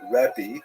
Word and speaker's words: rabbi: Um and uh in Israel the the term used in late antiquity was rebi that's the actual pronunciation which means my greatness my uh largeness